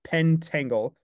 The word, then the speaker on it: pentangle: we we pronounce it pentangle pentle pen where pen where the the syllable ends at pen but actually the syllable technically right ends at the T so it's a pent